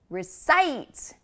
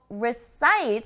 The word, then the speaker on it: recite: And recite, recite. So recite has the stress on the second syllable, as you can see, recite.